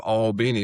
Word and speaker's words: Albany: See So I'm I'm originally from a town that's right outside of Albini, which is three syllables, and you guys have Albany up there.